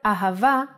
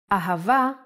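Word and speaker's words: אהבה: sound like both ha and a the word ahava uses it in both ways when hey appears in the end of the word it will always sound as a ahava is love in hebrew let's try to write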